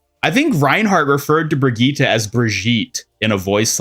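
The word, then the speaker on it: Brigitte: in Overwatch and then they retconed the pronunciation of her name to Brigittita and like changed Reinhardt's voice line either by removing it or re-recording it to pronounced it properly. But I'm pretty sure there was a time where Reinhardt called her Breijgit instead of Brigittita.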